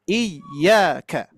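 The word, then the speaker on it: إِيَّاكَ: Yaitu pengucapan iyyaka.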